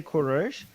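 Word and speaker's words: Kourosh: same thing I like Jews say Kur Iranians say kures and Cyrus is not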